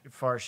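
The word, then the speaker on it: Faerch: I'm gonna say it horribly. Dag Farsh. Farsh, yeah. Yeah. That's how you say it.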